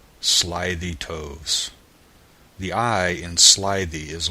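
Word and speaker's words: toves: how to pronounce slyy toes the eye in slyy is long as in Ry and Toes is pronounced so as to rhyme with Groves again the first o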